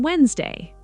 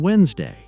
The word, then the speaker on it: Wednesday: I'm meeting a friend on Wednesday. Excellent. This word confused me for years. You're not alone. Many learners are surprised when they discover the first D is silent.